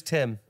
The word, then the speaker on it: Tim: Tim rhymes with limb. Yeah, does actually. Dim. Yeah. Shin. Rim. Shin, not quite, but yeah, half rhyme. Quim. Yep, quim it rhymes with.